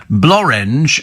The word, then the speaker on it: Blorenge: And then Blorenge, a valley in Wales, rhymes with orange.